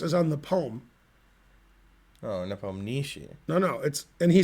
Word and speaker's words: Nepomniachtchi: And he said, Nepomniachtchi. And then when he said Nepomniachtchi, Danny King said, oh, so the emphasis is on the poem. Oh, Nepomniachtchi.